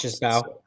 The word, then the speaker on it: Mbow: ones that said that the M is not pronounced. Is it either them or fantasy footballers that the Mbow is not M is not pronounced. Just Bow. Just Bow.